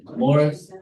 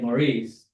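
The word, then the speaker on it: Maurice River: I what's the one Morris if you say Maurice that's further south it's in that area yeah so it's it's Morris but it's spelled like Maurice but if you say Maurice you're Fine.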